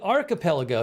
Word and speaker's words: archipelago: I want to say it's archipelago, but is it archipelago? No, I think it's arch. Oh, it's arc. I said it wrong.